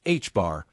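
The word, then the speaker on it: ħ: And h pronounced h bar is plank's constant divided by 2 pi.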